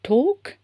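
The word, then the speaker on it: talk: சோ இந்த டோக் அண்ட் வாக் நம்ம வந்து எல் வந்து நம்ம ப்ரோனௌன்ஸ் பண்ண போறது கிடையாது சரிங்களா உச்சரிப்பு கிடையாது எல்லுக்கு சோ டோக் வாக் சோ டாக்னா நம்ம பேசுறது வாக்னா நடக்கறது.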